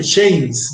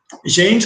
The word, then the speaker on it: Shames: y mecánica de fluidos de shames no James con sh no yames se escribe shames este donde está muy